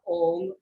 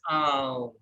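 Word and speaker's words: ॐ: So basically, we call it om, but the actual pronunciation is not om or om, it is aum.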